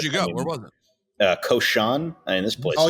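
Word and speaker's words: Cochon: It's Koshan. It's pronounced Koshan?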